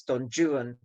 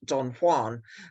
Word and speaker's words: Don Juan: way, in other words, Don Juan, not Don Juan. And Byron actually rhymes Juan with new one and true one, which he probably pronounced newan and truan.